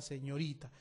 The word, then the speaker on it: señorita: Aquí está la mayor fuerza de voz en la penúltima sílaba.